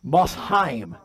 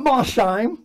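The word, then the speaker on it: Mosheim: johann lorenz von massheim german mossheim everybody said that with a massheim not ma shine not mo sheen not my sign two syllables three syllables that's pretty neat that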